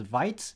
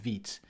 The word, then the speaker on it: Vite: tool it's called vit so I used to pronounce it as vit but it's actually called vit so vit is a I'll say it's a